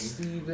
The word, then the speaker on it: Stephen: Just Speaking of Steves, someone by the name of Steven died this week. good. Who was his name? Rip Stephen Hawking. It's Steven.